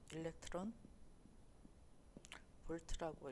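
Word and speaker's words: eV: 이 V가 무엇인지 이 V 어떻게 읽냐면 일렉트론 볼트라고 읽어요.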